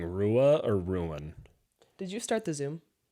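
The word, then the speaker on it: Ruan: could be Ryan no it's um it's ruin ruin because that's how I mean spelled r-u-a-n the only reason I'm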